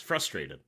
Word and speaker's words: frustrated: Well, because in in America, you put the emphasis on the on the first syllable. Yes. Frustrated. Uh, not here. Frustrated. Frustrated. I see.